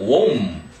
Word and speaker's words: womb: internal, 체 내에 있는, 내부에 있는 womb, B가 묵음이야.